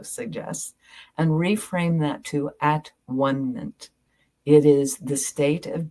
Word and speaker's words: atonement: She says the word atonement defines itself when it is divided into its syllables. The first syllable is at, the second is one. The last syllable is meant, this Latin ending, meaning state of being.